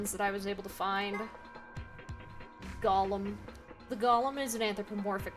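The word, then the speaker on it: GOLM: course Gollum my shoes surprise this ends up being pronounced like Gollum anyway on a side note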